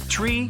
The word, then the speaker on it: tree: It's the way pilots pronounce certain numbers in their pilot English. Tree stands for three. Five for five and niner is used instead of nine. Such pronunciation helps to avoid radio miscommunications and the confusion caused by similar sounding numbers.